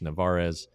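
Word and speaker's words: Narváez: Then he played the hop perfectly and got the catcher at second base, Narvaez is how it's pronounced.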